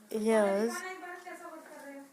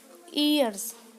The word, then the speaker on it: years: Friends, एक तो हम आपको ईयर्स और years में डिफरेंस बता देते हैं कि इसकी प्रोनाउंसिएशन कैसी होती है. ये होता है ईयर्स, ये years years. तो आप इसे years बोलिए, ईयर्स नहीं है ये.